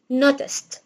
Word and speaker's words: noticed: طب الماضي بتاعها الاي دي هنطقها تي، فاقول noticed او noticed.